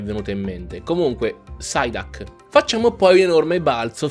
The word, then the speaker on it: Psyduck: Non ho mai capito perché gli inglesi non pronunciano la P se è seguita da una consonante. Come polmonite, pneumonia, ma c'è la P davanti alla N, non si sente, perché polmonite è la